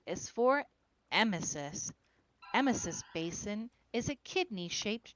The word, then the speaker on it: emesis: Emesis basins are made way too small.